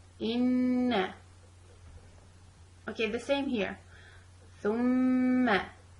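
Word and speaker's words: ثُمَّ: Thumma, pronouncing letter with sukoon, then letter with fatha, thumma, and also keeping the ghunna sound for both of them.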